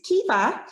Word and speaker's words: Caoimhe: So my name with the crazy spelling is Caoimhe. So you can spell it like this in Korean, Caoimhe.